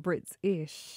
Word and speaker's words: Britishh: And I'm excited you said Britishh. Britishh. Yeah, yes. I've broken it into two words. I've made sure that I'm saying it correctly.